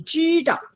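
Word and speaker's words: 知道: You're cutting them very well because 你知道 is first tone. What do you do when you do first tone, everybody? 你知道 What do you do? Yes, 你知道 That's right.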